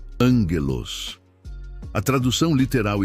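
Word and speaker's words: ἄγγελος: Para aprofundarmos neste conceito, podemos olhar para a palavra grega para anjo, que é ângelos, se pronuncia angelos.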